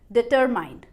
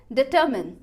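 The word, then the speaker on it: determine: अब उसके बाद लास्ट लेवल पर पता चला कि जो स्पेलिंग लिखी है एग्जैक्टली उस स्पेलिंग की प्रोनाउंसिएशन क्या है, डिटरमिन, नॉट डिटरमाइन बट डिटरमिन।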